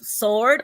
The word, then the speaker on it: sword: Sword. The W is silent, and they say sword.